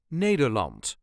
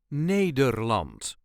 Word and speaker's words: Nederland: a regular Dutch accent Netherland Netherland the emphasis is on the first syllable Neer n l Netherland